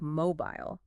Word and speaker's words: mobile: Americans usually stress the last syllable like mobile, but in British English, it's immobile. The stress is on the first syllable.